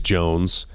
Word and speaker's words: Joens: somebody walked up to Carson I think it's Jones Jones they're gonna misspell my name they're gonna miss you mispronounce until you look at it oh yeah it's just Jones okay yeah uh what's gonna be on your